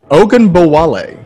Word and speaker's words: Ogunbowale: I know they just let go of, forgive me, I cannot pronounce his last name. Dare Ogunbowale. Dare Ogunbowale. Say that again? Ogunbowale.